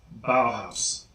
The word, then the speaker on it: Bauhaus: Bauhaus. I know that one may seem obvious since they've been around for 40 years. However, I still hear a lot of people say Bauhaus from time to time, so that's why they're